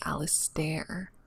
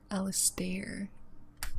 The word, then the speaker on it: Alistair: His name is Alistair. Alistair. It's like a stare, not Alistair.